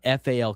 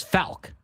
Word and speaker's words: Faulk: She put on the pronunciation guide F A L K, bro. Which is Fal. Like the ambulance company that's got the contract with the city here, right?